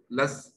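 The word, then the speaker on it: loess: They are wind deposits, silt lois, lus, we say. Pronounced as lus.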